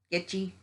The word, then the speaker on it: kitschy: I mean, they're kitschy, kind of kitschy. Is that word kitschy? I can't ever pronounce it. That Kitchy.